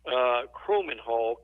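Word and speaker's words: Kromenhoek: On3 has done their final rankings, and I may mispronounce this, but the Florida State signee, Luke Kromenhawk.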